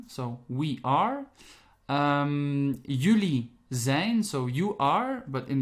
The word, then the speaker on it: zijn: that is he she it is we have zayn so we are um zane so you are but in the plural and